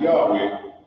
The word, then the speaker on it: Yahweh: So as represented by these four characters, it is pronounced Yahweh by the Hebrew-speaking people.